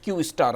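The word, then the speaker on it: Q*: जिस प्रोजेक्ट का नाम क्यू था प्रोनाउंसड क्यू स्टार नाम था और यह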